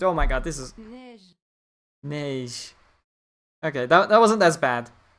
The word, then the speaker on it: Neige: 2 new original characters, Fuuka and Neige, as well as Kirito.